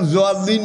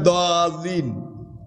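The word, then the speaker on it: ضالين: আর যদি হাদিসে হয়, তাফসিরে হয়, ওহিতে না হয়, তাহলে আপনি দোয়াল্লিন পড়লেও সারবে, জোয়াল্লিন পড়লেও সারবে, কিন্তু কোরআনের উচ্চারণ জোয়াল্লিন নয়, দোয়াল্লিন।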